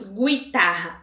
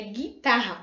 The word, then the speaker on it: guitarra: e u i a guitarra não lemos guitarra é guitarra o não aparece o som por isso dígrafo e